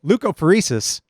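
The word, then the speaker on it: leukapheresis: this is pretty much a doctor five syllables so leukopheresis they take my white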